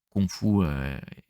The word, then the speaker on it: kung fu: C'est confou prononcé à la cantonise.